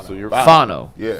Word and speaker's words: Fano: Yeah, I'm looking at the Browns draft card they turned in, and the phonetic pronunciation is Fawon-O. Oh, Fano. So you're Fano. Yeah. Fano.